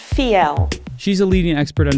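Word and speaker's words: Fiell: is Charlotte vo f ie LL and it's pronounced fee L she's a leading expert on design and has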